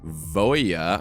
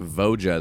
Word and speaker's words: Voja: murders at Carlo Manor this one is for Voya I believe it's pronounced I I was pronouncing it voja the last time I talked about it and